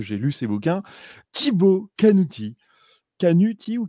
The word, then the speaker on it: Canuti: lu ses bouquins, Thibaut Canuti. Canuti ou Canuti d'ailleurs? Ah, si tu le prononces à la Corse, ça va donner Canuti. Si tu le prononces à la française, ça va donner Thibaut Canuti.